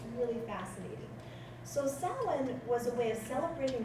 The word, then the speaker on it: Samhain: It's spelled Samhain, but it's Samhain.